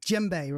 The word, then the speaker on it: djembe: them and it's pronounced JBE right I always get it wrong I see it and it's a silent D or it's JBE yes it's a silent D yeah it's pronounced JBE correct and you've got